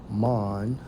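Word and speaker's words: מן: So, for manna, according to the Hebrew, it's Strong's H4478, pronounced as mon, right?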